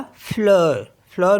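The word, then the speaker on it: fleur: एल ई यू आर तो ये हो गया फ्लर फ्लर मीस होता है फ्लावर नेक्स्ट वर्ड है हमारे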